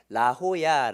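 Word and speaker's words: La Jolla: 엑스코 의 직경 지역이라 스펜스 영향을 많이 받아서 제의를 자지은 스로 발음하지 않고 히 스스로 발음을 하기 때문에 라호야 라고 읽습니다 그다음 아름다운 코로나도 섬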